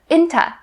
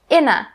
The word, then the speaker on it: into: something into something now if you want to say this faster then you can change into to inta this is the typical way that native speakers say this turn something into something